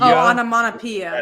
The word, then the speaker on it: onomatopoeia: Onomatopoeia.